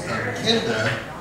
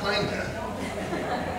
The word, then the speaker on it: Kenda: The first one is Travel Chicks, and I'm going to introduce Kenda, not Kinda, pronounced Kenda Wilson, the founder of Travel Chicks.